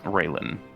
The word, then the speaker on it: Raylan: Is it pronounced Raylan? Yes. Raylan.